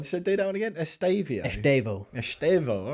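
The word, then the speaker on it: Estevão: Estevao, is that the officially that's how you sanctioned that's how you pronunciation? pronounce it. Yeah. All the Chelsea fans I've spoken to have been referring to him as Estevao.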